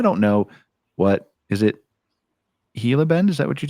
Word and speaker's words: Gila: So, it is pronounced that way. Like I was just I've always been saying it wrong. Yeah, it's Hila.